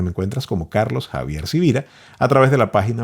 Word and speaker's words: Sivira: es Carlos Javier cira sivira se escribe con s de sonido con b de voz te invito a buscar